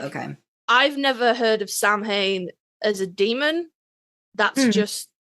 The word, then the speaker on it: Samhain: Samhain, pronunciation dependent on, like, Irish, Scottish, Gaelic. It's a Gaelic holiday.